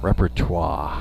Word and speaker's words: repertoire: a lot better than I don't pronounce that word well it's a tough one it's got that French French the French part of the second half there yeah repertoire yeah yeah she can't